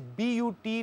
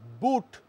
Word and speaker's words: but: raised the question of when PU T is written and pronounced as put then wise bu T not boot but but I think that the